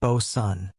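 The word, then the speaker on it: boatswain: Back on deck, you'll meet the Bosan or Bosan, pronounced Bosan, because sailors like to keep you guessing.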